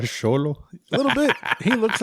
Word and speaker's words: Xolo: It's Xolo. His name is Xolo.